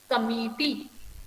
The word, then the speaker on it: committee: Okay, committee, committee. Okay, so here I put the emphasis on the second part.